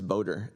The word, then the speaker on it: BHOATR: THE FIRST REPORT, THE ACRONYM PRONOUNCES BOATER, SO I AVOID IT, BUT THIS BHOATR REPORT WILL BE DUE JANUARY 30, 2028, AND THEN WE'LL BE REPORTING ANNUALLY THEREAFTER.